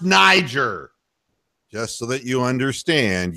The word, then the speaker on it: Niger: And yes, Donald, it's pronounced Niger.